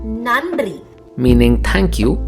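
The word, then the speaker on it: நன்றி: take the word nandri nandri meaning thank you the first n is normal you make the sound by touching the teeth but while making the second sound nn your tongue should be little back practically speaking many tamil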